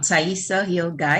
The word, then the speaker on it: Taihisa Hill Guye: let me ensure that i have the proper pronunciation and we'll move on so tell us who you are i'm taissa hill guy and you said it perfectly ivona mm-hmm all